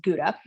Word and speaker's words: Gouda: do you have any hauda they would be like absolutely what so in america we pronounce this gouda but in holland they pronounce it hauda and this is the